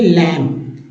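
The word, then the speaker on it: lamb: नहीं है जैसे देखिए लैम लैम बी यहां साइलेंट है लैम इसमें जो है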